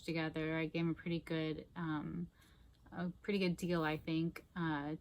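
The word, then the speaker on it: Pritti: And then we have these Lululemon Pretty, P-R-I-T-T-I, I think is how you say it, Pretty leggings.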